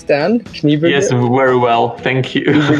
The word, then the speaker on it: Kniebűgl: Did I pronounce your name right, Dan? Kniebűgl?